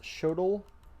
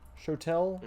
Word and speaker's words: shotel: I just grabbed an eclipse shotel. Shotel? How do you say that? I always thought it was Shodel. Shotel.